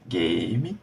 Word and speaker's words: game: gente já sabe que quando tem o u no final é o mágico ele não vai ser pronunciado e eu sei que eu vou usar as vogais que estão ali antes como vogais longas ou seja ali tem